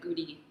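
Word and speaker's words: Gumi: was in goody City g r i they pronounce it goody and where is that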